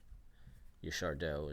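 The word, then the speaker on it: Yaşar Doğu: Yashardo is the actual way to pronounce it, but we're gonna keep calling it Dogu because we're gonna call it Dogu.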